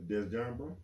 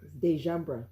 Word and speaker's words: Dejambra: Dejambra? Mm-hmm. Do I have to announce the S or the S silent? Dejambra. Dejambra. Okay, all right. See, I'm still learning. It's all right. Dejambra Robinson.